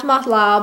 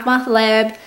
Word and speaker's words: mahlab: It is called ground mahlab or ground mahlab, depending on what pronunciation you're using.